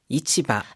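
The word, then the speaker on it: 市場: 자,이 시장이라는 한자를요. 여를 시조라고 읽었을 때는 주식 시라 시장이라든가 여론 뭐 이런 아주 대규모적인 시장을 말합니다. 반면에 전통 시장 등을 얘기할 때는 이거를 시조라고 읽지 않고 이치바 이치바라고 읽습니다.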